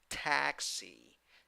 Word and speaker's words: taxi: 2 syllables. The first syllable is the stressed syllable, and you have a in the first syllable, and the letter E with a hat, E, in the second syllable. How do you pronounce the word? Taxi, taxi.